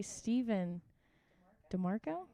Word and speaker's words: Stephen DeMarco: We have today Stephen DeMarco. Is that how you say it? Yeah. That's the only way you could say it, I think.